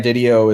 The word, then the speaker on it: DiDio: you said it D video video yeah Dan DiDio I mean that's the way I've always pronounced it so when when video was was